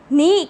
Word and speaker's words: knee: नी के साइलेंट है, इसको नी पढ़ा जाता है, KNEE.